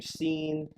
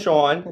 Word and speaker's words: Sean: that Bryan because I've had people pronounce my name scene and my name is Sean you know you guys know s EAN you know cuz I think the spelling throws people off that's SCA n no